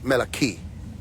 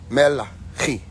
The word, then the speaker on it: Malachi: When you say it with the Hebraic tone or the Hebrew tone or Hebrew tone, you're saying Melachi. Melachi, which is messenger of, and Sedek or Zodek or Zodak becomes righteousness.